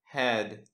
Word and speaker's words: head: Но бывают некоторые слова, где нужно говорить не как в алфавите «э». «Э» тоже никак не произносится. «Э». Вот здесь «head» – голова. «Э». «Э» – «head».